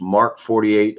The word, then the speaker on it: MK 48: who carried the heavy MK 48 + MK 46 machine guns pronounced mark 48 and mark 46 and the weight of